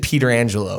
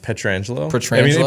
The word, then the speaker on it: Petrangelo: me for this pronunciation i said peter angelo and you guys laughed at me it's pretangelo petrangelo peter angelo's not far off he gets that